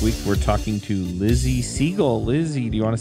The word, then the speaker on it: Siegle: say hi hey now I hope I said your name right I guess could be pronounced another way so you can tell me if I'm wrong it's fine that's perfect alright do you want